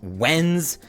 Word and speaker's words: Wednesday: For Wednesday, because Wednes is being pronounced Wens, it makes it sound like it should be named after a gem or mineral or something.